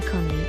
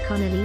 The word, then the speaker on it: Conley: name of trump's physician it's tribe sean conley with two syllables not connolly with three white house chief of